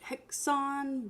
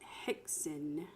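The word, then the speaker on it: Häxan: know what it is some people pronounce it hex on but the proper pronunciation is Hexen and it can be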